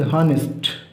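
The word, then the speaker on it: honest: দিয়ে কিন্তু এ ফুটে আসে, আওয়ার, দেখো এ উচ্চারণ হচ্ছে, এই জন্য তার আগে আমরা কি বসালাম? অ্যান। নেক্সট অনেস্ট, ঠিক আছে, হনেস্ট।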